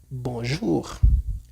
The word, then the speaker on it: bonjour: Miramos el siguiente, en este caso la o con la u, que siempre en francés sería u. como por ejemplo bonjour.